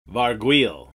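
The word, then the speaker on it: Vargouille: Vargoyle. Varguil. It's not gargoyle with a V. It's Varguil.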